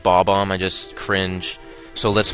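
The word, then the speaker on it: Bob-omb: Like in Super Mario 64, when people call it B-bomb and not Bob-bomb, I just cringe.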